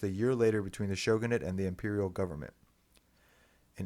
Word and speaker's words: shogunate: Um, in 1867, Japan's Tokugawa shogunate, is it shogunate? Is that how you pronounce that?